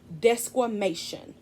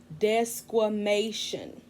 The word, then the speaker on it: desquamation: science word for this shedding process is called desquamation that's right let me say it again desquamation it's spelled d-e-s-q-u-a-m-a-t-i-o-n desquamation once the cells naturally flake off they